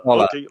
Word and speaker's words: Crolla: Sounds like Crolla. Okay. Just say it faster.